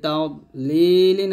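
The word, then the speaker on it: تضليل: আমরা অনেকে এখানে একটা ভুল করি, এর দোয়াদের উচ্চারণটা তা দ বলি, তা দ এরকম উচ্চারণ করি, মানে এখানে দোয়াদটা কলকলে করে ফেলি। তো দোয়াদ কিন্তু কলকলা হরফ না এবং কলকলা করাও যাবে না। এখানে দদ মোটা করবেন, আলাম ইয়াজআল কাইদাহুম ফি তাগলিল।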